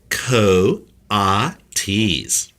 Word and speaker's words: coatis: Brisbane said reading from the letter pronounced Co ah T's the coatis looked weird